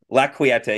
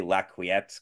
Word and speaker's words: La Quieta: Like I used to say La Quiette because I didn't know how to say it. So, but it's like quiet with an E on the end.